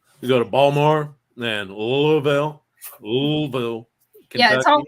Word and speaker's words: Louisville: Baltimore and Louisville yeah it's supposed to be one syllable Louisville's supposed to be one syllable um and my mom would always laugh at me because I would always say Louisville and she'd go no it's Louisville I'm like okay Pikeville